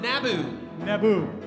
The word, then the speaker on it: Naboo: uh there's a place called um naboo and it does not rhyme with tatooine so glad you made